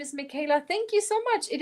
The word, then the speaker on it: Michaela: I always tell people it's Michael with an A at the end. You spell it Michael with an A at the end. That is my name. It's Michaela. Michaela.